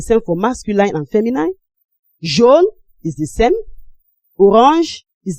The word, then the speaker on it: jaune: We also have here, most of you have been pronouncing this Joan in the past. It's not Joan. This is jaune.